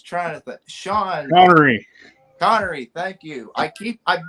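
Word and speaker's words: Connery: don't I'm not familiar with this actor Sean Conroy I'm try okay okay now you know you up now I was trying to think Sean Conor connory thank you I keep I've been mispronounce like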